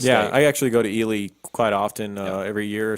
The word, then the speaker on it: Ely: country and came to Ely Nevada now the book said it wrong he said either said he'll I didn't yeah it's Ely and it's Nevada not Nevada that's kind of like